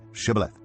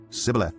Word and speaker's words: Shibboleth: If he replied no, they said, "All right, say Shibboleth." If he said Sibboleth because he could not pronounce the word correctly, they seized him and killed him at the fords of the Jordan.